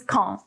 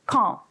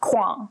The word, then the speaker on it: quand: or what time and you pronounce it as kong not kwang which is what i was doing and sometimes quand which is really bad